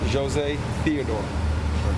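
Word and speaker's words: José Théodore: saying that for the last 12 years it's Jose Theodore there we go all right I'll still get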